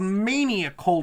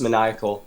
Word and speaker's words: Maniacal: Now, the book you published recently is called Maniacal. Did I pronounce the name of that correctly? Not quite. It's pronounced Maniacal.